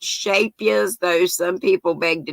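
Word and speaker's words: Scheepjes: um i've you know it looks like sheep geez but it's a dutch word i've been told it's pronounced shapias though some people beg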